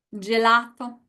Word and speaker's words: gelato: So just to see an example of what a penultimate syllable looks like, go ahead and read these with me. Scuola, gelato.